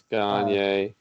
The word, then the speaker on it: Gagne: It's Gagne. Well, I can't pronounce it.